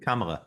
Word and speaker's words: Kamala: did I say it right that time Kam Kamala yeah yeah good um Kamala Harris if she